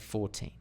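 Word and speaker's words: fourteen: that helps with meaning similarly compare 40 and 14 okay a lot of my students get confused have problems with defining 14 and 40 okay it's Dum d d dum dum D 40 14 D Dum 14 D dum dum d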